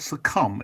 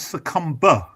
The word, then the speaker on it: succumb: And when Paul Weller says the word succumb, he says succumber. Yeah. Yeah, there's that. He pronounces a B at the end, and it really gets my goat.